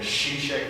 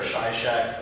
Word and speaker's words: Sheshach: And remember when you see that word, this is a use of it again, Sheshach there, or Shishak, depending on how you want to pronounce it.